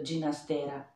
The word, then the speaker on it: Ginastera: in effetti ogni tanto sveliamo la pronuncia del cognome del compositore dicendo ginastera ho fatto pure io